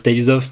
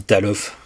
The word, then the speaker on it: Tales of: Bah là, elle va dire Tales of, mais elle dit Talof.